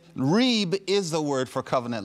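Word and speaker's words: rîb: for you a little bit because it's it's Reeb is the word for covenant lawsuit it's a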